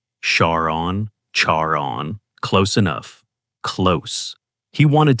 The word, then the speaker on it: Charon: Her nickname Char, pronounced almost the same as Charon in English. Charaon. Charon.